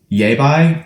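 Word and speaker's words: Yaiba: in the comment section it's Japanese manufacture it's yeah by cusan G C T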